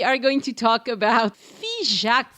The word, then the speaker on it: Figeac: a wonderful surprise uh fak is spelled by the way f i g e a c and it's typical of a lot of the names of places in the southwest that end with that AC which uh actually is